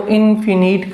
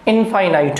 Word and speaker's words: infinite: और देखिए, जब अपन इनफाइनाइट की बात करें, पहली बात तो ये है कि इसका कुछ जो प्रोनाउंसिएशन है वो इनफिनिट कर देते हैं। इनफिनिट नहीं है, इनफाइनाइट है।